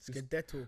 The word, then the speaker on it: scudetto: Scudetto.